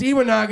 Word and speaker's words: Iwanaga: You've been saying it wrong the whole time, Chris. It's Iwanaga.